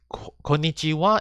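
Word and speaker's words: こんにちは: for it so in konichiwa and konbanwa is even though it's using the ha hiragana it is pronounced as wah and this is only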